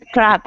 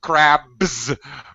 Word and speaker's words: crab: be careful pronunciation again be careful of pronunciation yes crap no yeah thank you I realized when I when I thought exactly you're take take some crabs with a B okay not not with a p yeah you don't want